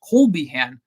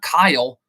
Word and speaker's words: Colbyhan: It's Colbyhan, not Kyle.